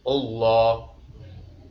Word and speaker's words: Allah: Lafaz Allah tafhim, bacanya tebal. Jangan ulah. Nah, harus tebal. Allah tebal ya.